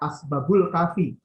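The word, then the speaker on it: Asbabul Kahfi: Membacanya Asbab Al-Kafi. Karena ini bahasa Arab, membacanya Hikayat Asbabul Kafi.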